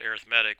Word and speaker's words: arithmetic: We pronounce it arithmetic when it's an adjective describing the type of sequence.